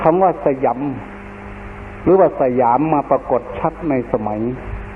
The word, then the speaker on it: สยาม: ของ ชื่อ ว่า ประเทศ สยาม ภาษา สันสกฤต ว่า สยำ บาลี ว่า สยัง พอ ออก เสียง เป็น ไทย ว่า สยาม เรา จะ เห็น จารึก